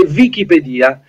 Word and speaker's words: Wikipedia: che culturale Allora allora la pronuncia esatta è oggettivamente Wikipedia Perché il termine Wiki È un termine hawaiano che quindi non ha nulla di inglese ed è utilizzato per vuol dire veloce rapido vick i vick Wick